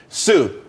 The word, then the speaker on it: TSU: there's more money and everyone could be happy Sue TSU it's pronounced Su though that's a that's a website.